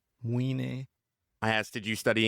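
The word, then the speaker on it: Mũi Né: I mean, I asked my tour guide to Mune. I know I'm mispronouncing that. Nobody knows. Moine. It's Moine.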